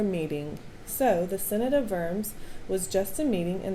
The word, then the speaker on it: Worms: It was called the Synod of Worms. It's not worms, it's Worms. It's German. It's spelled like worms, though. Now, this meeting had nothing to do with squirmy little worms that live in the ground.